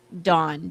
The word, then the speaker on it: Dawn: I say the name Dawn, d a w n. He says I say it like d o n. He goes cuz he has a he had a sister named Dawn and he's like, "You say her name like Dawn." And I'm like, "What's the difference, dude?" And he's like, "No, there's a difference."